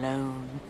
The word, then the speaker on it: Lone: Tom Lone. Rhymes with cone, phone, bone.